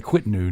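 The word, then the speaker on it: Kvitnu: I'm going to say Quitnu now from now on. Yeah, that's how you say it properly, isn't it?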